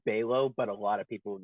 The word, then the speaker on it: Balogh: aka the is it Baylor or or it's pronounced Balo but a lot of people normally get it